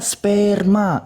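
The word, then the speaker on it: σπέρμα: Dibacanya sperma, artinya apa?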